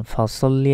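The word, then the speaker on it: فصل: উচ্চারণ করে বলি যে ফাসাল্লি ফাসাল্লি বললে এখানে মারাত্মক ভুল হয়ে যাবে দেখুন এখানে আছে সদ সদ লাম জবর হয় সাল কিন্তু সাল বললে এখানে সিনের উচ্চারণ হয়ে যাচ্ছে তখন আমাদের অর্থগুলো পরিবর্তন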